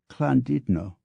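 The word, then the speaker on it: Llandudno: instance is pronounced Dolly while l l a n du dno o is candido and those are the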